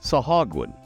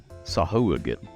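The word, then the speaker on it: sahuagin: we're doing this and this is sahagin or sahin but most people on the sword coast of the Realms pronounce it sahagin neither one is wrong both are correct and there are other variations too depending on where you put the emphasis in the in the word or the emphasis if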